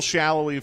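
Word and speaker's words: Salloi: Daniel Shallowy from Kansas City is one.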